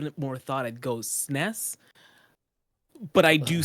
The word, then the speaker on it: SNES: Sness.